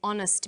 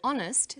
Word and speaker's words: honest: So we say a happy man, but an honest man. The H is not pronounced, so honest sounds like it starts with a vowel.